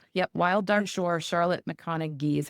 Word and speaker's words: McConaghy: Charlotte McConn is how she pronounced it, but it's like the last it's like ghy ending, but she pronounced with the G.